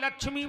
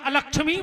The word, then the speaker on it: अलक्ष्मी: आ रहा हो कि लक्ष्मी नाशाम में हम जजमान की लक्ष्मी को नाश कर दे, जबकि शुद्ध उच्चारण है अलक्ष्मी नाशाम में हम, है ना चाची?